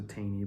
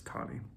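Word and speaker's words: Taney: on the third point it looks like it's you would pronounce a teeny but it's tani think of it as there's a W in there between the a and E em and by the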